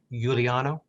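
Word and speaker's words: Giuliano: i do it right is it pronounced yuliano that's correct your honor my mother was italian oh well thank you um again they please the court uh i stated my name is juliano i represent the appalese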